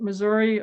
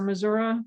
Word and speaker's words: Missouri: that there's a difference there's a split between how you pronounce it Missouri or Missoura depending on the location and the allegiance and all this kind